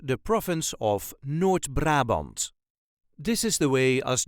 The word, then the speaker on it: Noord-Brabant: accent the province of n brabant this is the way as duchies say n brabant n brabant there is a very slight emphasis on the first syllable of the second word n Brant n bra